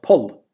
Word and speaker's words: poll: B, the yellow hole, but pull, as opposed to pole. And of course, pull was the pronunciation in Old Irish with a long L, pull, pull. But anyway, my whole point is that in this area, we know that it was pole because of the rhyming system.